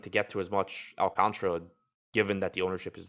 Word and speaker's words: Alcantara: Alcantara. 4 syllables. I'm almost positive that's wrong.